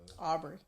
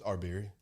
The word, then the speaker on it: Arbery: Aubrey. It's Arbery. It's A-R-B-E-R. That ain't how they've been pronouncing it.